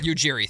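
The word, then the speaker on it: Ujiri: Dundan even spoke to former Toronto executive Messiah uh uh I always mispronounced the last name. Yiri. Yugjiri.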